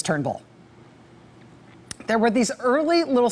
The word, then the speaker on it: Turnbull: his name is not Trumbull his name is Turnbull there were these early